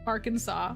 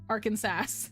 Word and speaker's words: Arkansas: difficult like Arkansas yeah cuz you have Kansas which is spelled the same way as Arkansas but it's said Kansas versus Arkansas which is not pronounced Arkansas that's wild legit legit